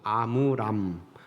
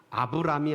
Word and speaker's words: 아므람: 성경을 이렇게 살펴보면 아므람, 아브람이 아니고 아므람인데 발음이 좀 어려워요.